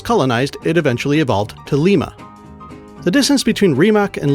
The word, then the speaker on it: Lima: So Rimac, Limac, Lima. Also, did you know that lima beans are named after Lima, Peru? It's just a different pronunciation, same spelling.